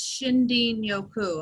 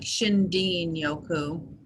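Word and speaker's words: shinrin-yoku: from Japan and the term in Japanese is shinden yoku I'm actually going to type that in the chat and it's spelled if you just say it out it's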